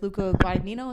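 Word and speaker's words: Luca Guadagnino: to uh revisit it with Luca guino is how you pronounce it he did like call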